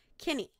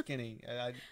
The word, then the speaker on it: Kinney: Kinney is how it's pronounced, apparently. I'm pretty sure it's Kinney.